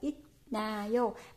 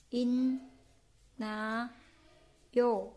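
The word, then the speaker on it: 있나요: Rồi bobogi odinayo, cái từ inayo chúng ta không đọc là itnayo mà chúng ta sẽ đọc nó là in na yo nha, inayo inayo in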